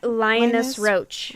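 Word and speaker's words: Linus Roache: How you say his name? Roche? Oh, Linus Roach. Linus Roach?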